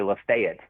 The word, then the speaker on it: Lafayette: It's actually Lafayette. Lafayette. The locals pronounce it up there.